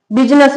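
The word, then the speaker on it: business: जैसे सूट लिखा है, बिजनेस लिखा है तो यहां आई साइलेंट रहता है।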